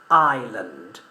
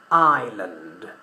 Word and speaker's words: island: When we refer to una isla, yeah, we don't pronounce the letter S, so we say island, island, island.